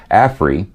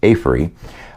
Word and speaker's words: Aferiy: now teamed up with afre or it's pronounced afree um this is a